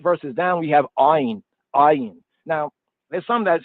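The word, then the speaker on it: עין: It's a hard A sound. The soft A is Aleph. The hard A is Ayin. Some say that it's actually I, like I or EYE. How about AYE? Notice that A and Y is a diphthong. You know about diphthong? 2 sounds that come together to produce another sound.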